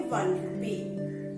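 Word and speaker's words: one: A 1 rupee. Again, it begins with a vowel letter O, but a consonant sound ver.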